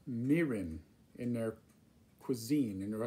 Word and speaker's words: mirin: this is a product that americans often call mirin in their cuisine in their attempts to cook asian food but the japanese pronunciation is quite different it says this is called meeting not marin okay marin sounds like a hick from some